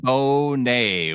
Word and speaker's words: Charbonnet: Charbonnet. We got to get the correct pronunciation down.